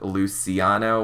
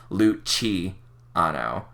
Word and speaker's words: Luciano: it's like spelled, but the actual way it's supposed to be pronounced is there's supposed to be like a CH sound, so it's supposed to be Luciano, not Luciano.